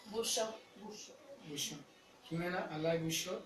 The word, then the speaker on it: Bouchot: Bouchot. ¿Pero cómo Jimena, se pronuncia? Bouchot.